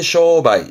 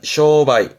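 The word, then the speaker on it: 商売: 때 이제 상메를 써 가지고 발음 쓰게 됩니다 발음은 쇼바이 쇼바이 특자 있었죠 매네요 발음은 토바이 토바이 특별 판매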